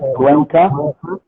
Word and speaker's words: Cuenca: Alejandro Martinez Cuenca, I hope I'm pronouncing right, Cuenca, Yes, you are.